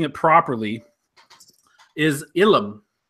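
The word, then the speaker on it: ylem: The word of the week from Andy, I believe I'm pronouncing it properly, is Ilum. It's spelled Y-L-E-M, but I believe it's pronounced, or actually Ilum.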